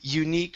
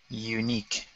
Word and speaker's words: unique: up here okay this this U is an EU sound so it's U unique feeling unique unique feeling good good